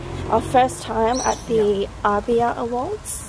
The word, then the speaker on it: Arbia: Our first time at the Arbia Awards. Arbia, that's how you say it.